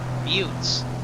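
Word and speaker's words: buttes: I think it's mutes. It's not butts. I said uh pronunciation but there you go. butes.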